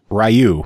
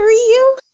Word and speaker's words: Ryu: Ryu from Street Fighter. You could tell me it's Ryu all you want. I don't give a fuck what you tell me. His name's Ryu. Is it Ryu?